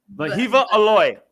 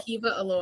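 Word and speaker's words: Wehiwa Aloy: Vahiva Aloy. Vahiva. Vahiva Aloy.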